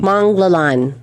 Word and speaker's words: Manglallan: Manglallan.